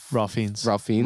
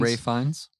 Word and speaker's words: Ralph Fiennes: Ralph Fiennes. Ray Fiennes. Ray Fiennes. Yeah, I always get mixed up. I say Ralph Fiennes too. Okay. He's posh, so you don't pronounce the LPH.